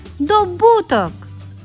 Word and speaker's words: добуток: падає на перший склад і в останньому слові наголос падає на другий склад правильно говорити добуток наступна третя вправа